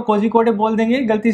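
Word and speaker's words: Kozhikode: तो ये next topic है यूनेस्को नेम्स कोझिकोड़े। बेसिकली ये प्रोनाउंसिएशन क्या है, कोझिकोड़े, ठीक है। अगर हम इसको गलत पढ़ेंगे तो कोझिकोड़े बोल देंगे गलती से, जैसे मैंने अभी बोला,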